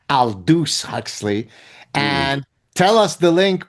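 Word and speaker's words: Aldous Huxley: Now I say maybe the French pronunciation Aldu Huxley but apparently I was corrected. It's Aldus Huxley.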